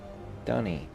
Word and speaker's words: dunny: First thing that shows up, Dunny, a toilet. It's spelled with a D and then the schwah and then an N and then an E with a line over it.